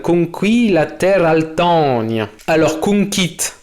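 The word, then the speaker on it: cunquist: Alors, conquit. Faut préciser que le U se prononce OU.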